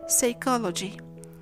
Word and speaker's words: psychology: The same thing happens with the fricative S in words such as pseudonym, psychic, psychiatrist, psychopath, and psychology. The same thing happens with